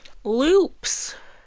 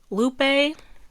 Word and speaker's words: Lupe: Loops. Lupe.